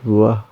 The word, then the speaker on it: what: Actually, this word pronounce what, but sometimes native speaker this word pronounce wah. Not pronounce this letter T.